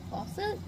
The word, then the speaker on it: Fawcett: But I did end up getting Emily Wilde's and Map of the Otherlands by Heather Fawcett. That's how you pronounce her name.